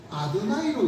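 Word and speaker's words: יהוה: 그분은 히브리어 가운데 야훼, 여호와 이렇게 나오는 부분을 야훼로 읽으면 안 된다는 것이죠. 유대인들은 이 부분은 아도나이라고 읽는다. 하나님의 이름을 인간이 함부로 불러서는 안 된다. 그러니 너희들도 우리 할 때도 너희들도 이 부분은 아도나이로 읽는 것이 구약을 이해하는 데 도움이 된다.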